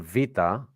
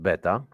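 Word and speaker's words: βήτα: you get B okay what you know as uh beta okay but uh but the letter the letter vaa is not beta so I have a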